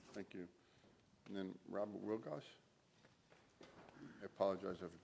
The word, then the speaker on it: Wilgos: And then Robert Wilgoss. I apologize if I pronounced your name incorrectly. It's Robert Wilgoes.